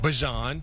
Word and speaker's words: Bijan: got Drake, you got Bajan. That's the right way to say his name.